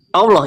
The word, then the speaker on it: Allah: Nah, karena sudah A, jadi artikelnya tidak dibawa Allah bacanya. Artikelnya dihilangkan jadi Allah.